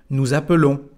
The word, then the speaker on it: appelons: Y aquí ahora que tenemos solamente una L, bueno, es el sonido E que aparece. Nous appelons.